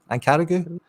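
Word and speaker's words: Ankaragücü: They're at home to Ankaragu. That's how you say it.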